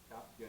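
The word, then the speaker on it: cāpya: The C is pronounced cha. Yeah, cha. Try it again. Yamai. Chapya nindaya.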